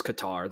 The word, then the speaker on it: Qatar: I hear there's like 20 different ways to say it apparently which kater is the one that blows my mind.